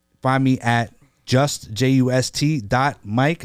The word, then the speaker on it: Myq: mik I spell my name m yq and then you can